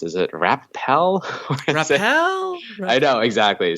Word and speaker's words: Wrapal: Is it Rappel? Rappel? I know, exactly. So it's WRAPAL, like wrap a location, which is actually what inspired the name.